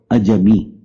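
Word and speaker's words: عجمی: میم اور چھوٹی ہے۔ اب اس کو اجمی بھی پڑھ سکتے ہیں، اجمی بھی پڑھ سکتے ہیں، لیکن اس کا صحیح تلفظ ہے اجمی۔ اجم سے ہے لفظ،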